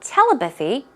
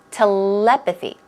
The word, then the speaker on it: telepathy: of course our topic telepathy now it's not telepathy it's telepathy okay let's try it two times that loud